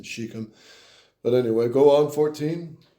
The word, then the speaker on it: Shechem: Sichem. Sichem? That's the one that ravished Dinah. Shechem would be probably the right pronunciation. Shechem.